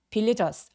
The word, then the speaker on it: villagers: villagers 할 때 발음하기 전에 반드시 바람 소리가 반드시 느껴져야만 합니다. 그러니까 villagers 아니고 villagers라고 과하게 바람 소리를 느끼게 해주세요.